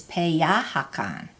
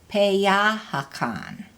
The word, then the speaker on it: peyahakan: So, like to eat is peyahakan. Repeat, peyahakan. It has the accent on the ya because remember, pe does not have the stress for eat.